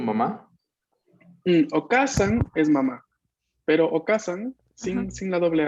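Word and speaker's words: お母さん: En este caso, hay que prestarle mucha atención a la pronunciación larga de la A, porque si la pronunciamos sin la doble vocal, o sea, si decimos okasan, significa otra cosa.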